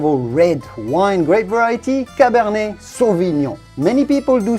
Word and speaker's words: cabernet sauvignon: red wine grape variety cabernet sauvignon many people do say savignon it's better to say cabernet sauvignon a u in french sounds like the letter o so do say cabernet sauvignon then comes chardonnay i'm